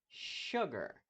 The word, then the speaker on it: sugar: mas nesse caso aqui o s vai ter o som de sugar bem chiadinho mesmo Sugar e aqui temos